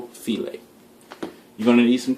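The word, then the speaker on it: filé: And we can't forget gumbo filet. I've heard this pronounced so many different ways. Gumbo file and whatnot, but it's gumbo filet.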